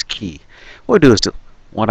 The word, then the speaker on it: χ: Hearts key I know some people might be pronouncing it Chi because well that's sort of what's shown in the title but um according to the Japanese there it's a Kingdom Hearts key what I do is